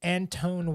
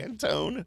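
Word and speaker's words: Antoine: the Lakers may have been the fact that Anton Walker was on that team but Antone yeah okay Tim say his name right no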